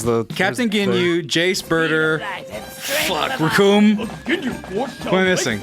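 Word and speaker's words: Recoome: Oh yeah, there's the Captain Ginyu, Jace, Birder, Raccoon. What am I missing? It rhymes with Doom.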